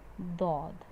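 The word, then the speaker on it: ض: Obviously, this part of your tongue is touched but not pressed. You're using the edges to perform, to pronounce this letter. Do. Do. Even though this is touching, you are not using that part. Okay. Do. Only one letter comes from the edge.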